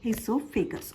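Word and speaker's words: oesophagus: उस पाइप को बोलते हैं हम लोग इससोफेगस। ओ साइलेंट है। इससोफेगस बोलते हैं इसको।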